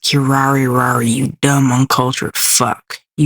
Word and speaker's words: Kirari: It is literally pronounced Kirari Rari.